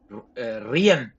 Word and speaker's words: Rian: Think mean but spelled with an R for a name. Rian.